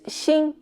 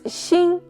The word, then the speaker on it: 心: Both words xin and xin have the same pronunciation but different meanings.